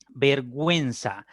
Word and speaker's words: vergüenza: caso si son diptongos por ejemplo vergüenza se dan cuenta que en vergüenza la uci se pronuncia y aparecen acompañada del del signo ortográfico 10 decidiera y si son los dos puntitos que se colocan sobre el agua entonces y se pronuncia la u hay diptongo vergüenza lingüística si la